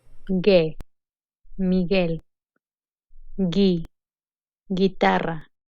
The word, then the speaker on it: Miguel: G in combination with UE and UI, the letter U is not pronounced. Ge, Miguel.